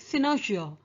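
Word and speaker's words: cynosure: english the pronunciation of this word is quite different it's something like synergia so you may hear it pronounced differently by different people anyway i was 20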